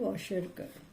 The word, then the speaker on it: Kwashiorkor: K is silent, Kwashiorkor.